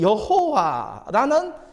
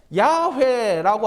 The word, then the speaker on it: 야훼: 그래서 그 발음을 할 때에 야훼라고 하기도 하고 여호와 이렇게 발음하기도 합니다. 그런데 우리가 가진 성경에는 그냥 여호와 이렇게 발음합니다만은 또 이것을 발음할 때 이스라엘 백성들은 히브리어로 발음할 때는 야훼라고 이렇게 발음해요.